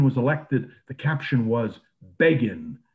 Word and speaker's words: Begin: elected the caption was beggin rhymes with fagin and they predicted that